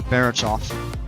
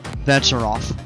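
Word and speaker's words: Becharof: I pronounced that wrong. I think I said Barachov. It's Becharov. We've been flying over a couple of those mountains that we see occasionally.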